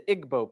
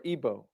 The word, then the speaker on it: Igbo: You have the Igbo people, or Igbo, pronounced either way.